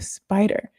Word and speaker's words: SPDR: When you see SPDR in finance, that's pronounced SPIDER.